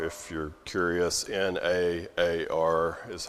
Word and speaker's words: na'ar: The word is na'ar, if you're curious. N-A-A-R is how you would spell it in English, na'ar.